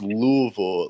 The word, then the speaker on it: Louisville: It is Louisville.